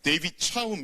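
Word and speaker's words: David Chaum: 1988 년에 왔습니다 2분은 네덜란드어 아무 합자 구요 데이 빛이 싸움 이라고 읽어야 됩니다 이사람 다른 말로는 프라이버시의 아버지 라고도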